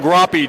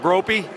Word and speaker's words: Groppy: My legal representative, Groppy, did I pronounce that right? Perfectly, Bruce. It's not Gropey? Definitely not Gropey anymore.